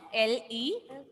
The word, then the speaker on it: leçon: Lecon. Lesson. Here also the last letter is N, and that is a consonant letter. That is a consonant letter. Here also we will not pronounce the last letter N.